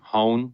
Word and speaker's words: Hoehn: his name is Charlie hone rhymes with phone as told me at